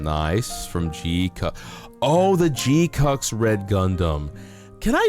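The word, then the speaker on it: GQuuuuuuX: It's called Gcucks. It's called G Q U U you UX. And it's pronounced Gcucks.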